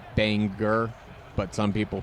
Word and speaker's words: Bangor: Kind of like how um um like in Maine it's Banger, but some people pronounce it Bangor.